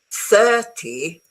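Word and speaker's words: thirty: The trick is mainly on the stress. Wait, I'll make it bigger. You see, 13, I'm exaggerating, okay? 13, the stress is towards the end. 30, the stress is at the beginning.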